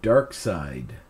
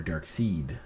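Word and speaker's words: Darkseid: the graphic history of dark side or dark seed if you want to pronounce it incorrectly whoever dark side is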